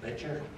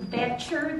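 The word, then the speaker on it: Boettcher: Butcher. My name is Betcher. The O is silent. It's a good German name.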